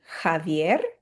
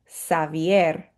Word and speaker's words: Javier: This could be Javier. That's probably the most common pronunciation, but I also had a student from Cuba named Xavier, so it could go either way.